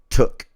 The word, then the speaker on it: toque: It is indeed took. Okay. Okay. Like cook but took.